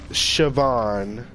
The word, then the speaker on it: Siobhan: in high school and his name was Siobhan and it was spelled like how you spelled Vaughn except with ch a in front of it and Siobhan was another